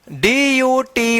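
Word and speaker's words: duty: चलिए अब देखते हैं यहां पे डी यू टी वाई इसको क्या पढ़ेंगे? ड्यूटी। अब यहां पे यू उच्चारण हो रहा है।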